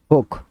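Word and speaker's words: folk: ডিমের কুসম ইয়ক ওয়াই ওল ইক মানে ফলক ফোক লোক ফোক এযে ফোক ডান বলে ফোক মানে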